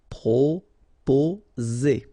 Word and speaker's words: proposer: Okay, so proposer. Remember, 2 vowels here and only 1 S, so you will get the sound Z. Okay, proposer.